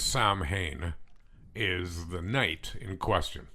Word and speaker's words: Samhain: And I think I'm going to pronounce this wrong because I recently learned how to pronounce it correctly, but it's Samhain is the night in question.